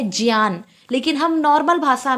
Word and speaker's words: ज्ञान: उच्चारण है सही उच्चारण इसका ज्ञान है इसका उच्चारण है ज्ञान इसको ज्ञान ना कहकर ज्ञान कहना चाहिए ठीक